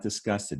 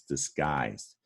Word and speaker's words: disguised: that t up top is not disgusted it's disguised all right we're going